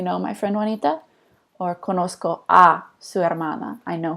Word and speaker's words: conozco: before the C and it's kind of maintaining the soft C sound at the end of this verb conocer and this is pronounced conozco yo conozco and then